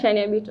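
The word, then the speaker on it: Shaniah Bito: Tuambie tu kama nimepronounce jina vizuri. Yeah. Shania Bito.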